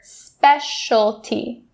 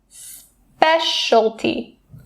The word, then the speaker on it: specialty: And I'm going to be doing the same thing for specialty, because that shol sound is the same. Specialty.